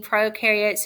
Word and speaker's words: prokaryotes: about the difference between prokaryotes and eukaryotes remember prokaryotes pro rhymes with no so they are not